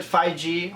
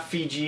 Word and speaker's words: 5G: made it's called it's you pronounce it 5G or not not fij it's 5G uh this just this